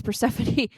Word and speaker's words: Persephone: The stories of Jack Frost meet the tales of Persephone? I know how to say this. Yes, Persephone.